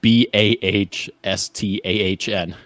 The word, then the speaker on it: Boston: AJ, I feel like I need to do my due diligence and help you with that accent there. It's like Boston. Boston? No. Cocky. B, like say it like it's spelled Bahsthahn.